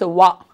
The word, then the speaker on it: one: 1 means wa. Wa means, is it a consonant sound or a vowel sound? Wa. Wa. Consonant sound.